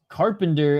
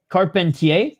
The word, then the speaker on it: Carpentier: guy whose name was Carpenter and I was just thinking why can't it why can't just keep it pronounced carpenter or carp carpentier carpentier. That's why because eer makes uh makes a in French.